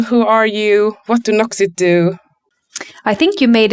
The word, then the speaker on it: Noxit: I decided to uh start my own company Noxit and you pronounce it the right way.